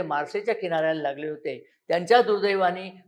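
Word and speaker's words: Marseille: सोडण्याकरता नरेंद्र मोदी नक्कीच मारसायला मार्सेला गेले त्या मार्सेचं स्पेलिंग मार्सेल्स असं आहे पण त्याचा फ्रेंच भाषेत उच्चार मार्से होतो म्हणून मी मार्से हाच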